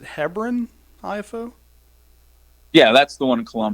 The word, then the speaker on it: Hebron: Do you ever venture down to the, I think people in Ohio pronounce it Hebron IFO?